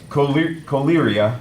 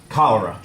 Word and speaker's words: cholera: Choleria is not the way it's said. Cholera is the word.